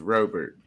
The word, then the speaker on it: Robert: know about like louis robert or however his name is pronounced it's yogurt with an r it's robert okay louise r and